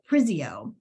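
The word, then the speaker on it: Prizio: Uh Hovind, um and Alagany County Council member Anita Pris Pris Prisio.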